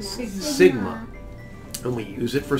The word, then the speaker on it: sigma: Say sigma. Sigma.